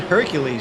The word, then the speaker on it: Hercules: I think you're saying it right because he's Brazilian. If it was French, I would say it's Hercule.